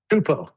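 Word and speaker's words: Csupo: Is it Supo or Chupo? Chupo. Chupo. Kleskey. Klaskki. Chupo. Chupo. Okay. That's how it's pronounced.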